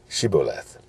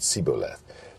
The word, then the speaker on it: shibboleth: This was being wise as a serpent, but how they had them to frame the word shibboleth. And they couldn't say it right, but said siboleth.